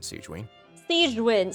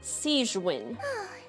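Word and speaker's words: Sigewinne: for you but thank you for your concern seen sewin sorry I mispronounced your name sein then you must be here for those two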